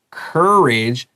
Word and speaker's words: courage: Courage ends in AGE, and man, AGE 超好用，它发 age 短 I 跟 J 的发音 Okay, not age, 这个是 courage, and age means 一小群的意思。And let's get ready for our next sentence.